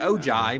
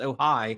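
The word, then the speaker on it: Ojai: me with this pronunciation I think ohigh ohigh that's what I thought ohigh California looks like oi but it's ohigh yeah and um the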